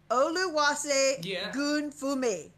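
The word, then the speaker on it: Oluwasegunfunmi: Olu Wase Gun Fumi. Olu Wase Gun Fumi. You said say, not... Not say, not Shay, say.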